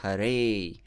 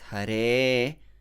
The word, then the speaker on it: Hare: and stretch the e also beware of uh turning that a into a it's not hare it's hare krishna so next krishna listen